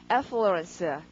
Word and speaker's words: affluence: 강세가 앞이거든요. 그래서 발음하시면 강세 이렇게 발음하니까 발음이 affluence 여러 번 해주시고 affluence라고 발음하면서 flow에다가 flow라고 적었는데 그러니까 접두어 AF를 빼면은요 우리가 아주 잘하는 단어가 나옵니다.